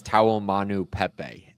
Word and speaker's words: Taumanupepe: pretty similar to that I think it's taom Manu Pepe is how you say his last name but either way I